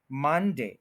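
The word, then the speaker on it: Monday: सा अच्छा कर ले मनडे यानी मन के ऊपर स्ट्रेस है देडे के ऊपर स्ट्रेस नहीं करेंगे मंडे तो यह ज्यादा नेटिव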